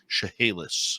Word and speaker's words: Chehalis: Burns, who was a teacher on the Chehalis Indian Reserve in British Columbia. And I'm just going to correct you on the pronunciation there. What's that? Chehalis.